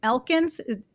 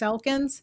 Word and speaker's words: Elkins: So we're going to start out the next video with Miss Elkins. Am I pronouncing that right? Miss Elkins?